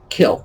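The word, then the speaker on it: kiln: into the kill and that should be our word for the day kill kil n very easy it is just a high temperature firing oven for ceramics it's not the word or the mean of the work it's like catnip it's the way you pronounce it the end and kill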